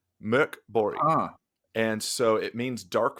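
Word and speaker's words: Mörk Borg: This is called uh for Americans it's Morborg. For uh those that can pronounce it, it's called Mirk Bori. Murk Bori.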